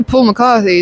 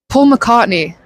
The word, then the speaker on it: Paul McCartney: cuz I feel like in terms of someone who's written a crazy amount, I'd say Paul McCarthy is like probably such a good choice. Um, wait, Paul McCartney. Sorry, I pronounced that so weird.